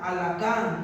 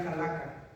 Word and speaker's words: Halaká: Y también lleva acento en la A. Sí, Halaká, porque si no diría Halaka. Halaká.